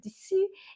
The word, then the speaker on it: dessous: Dessous is spelled S-U-S. So it's a bit of a kind of squished sound at the end, and it's just US on the end.